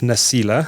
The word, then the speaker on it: Nasila: Now, Nasila, am I pronouncing that correctly?